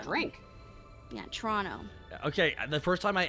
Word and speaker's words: Toronto: first of all you're saying it wrong it's pronounced tono torono there's no te's in it trono drink yeah Toronto okay the first time I ever actually smoked